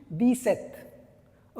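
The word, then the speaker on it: dix-sept: अगर आपकी ऐज 17 years है तो यू can write J then 17 एंड 17 को हां आप कैसे प्रोनाउंस करते हो फ्रेंच में दी सेथ ओके और ओ इज़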